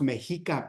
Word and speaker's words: Mexica: not, it's actually pronounced Mexica people, and the Spanish are changing the he to a sh sound.